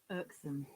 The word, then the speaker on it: irksome: Okay, though it starts with I, this I sounds like ah. Irksome. Okay, but in British English, as you know, we don't pronounce R, so it is irksome. And that O is a short sound, irksome.